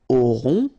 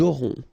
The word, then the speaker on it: aurons: Okay, nous aurons. Final S not pronounced. O and N together, nasal.